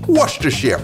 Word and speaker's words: Worcestershire: Pronounce it Worcestershire.